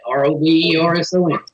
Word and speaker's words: Roberson: Did I pronounce that correctly? Is it Roberson or Roberson? Robinson. Roberson. Yeah, Roberson.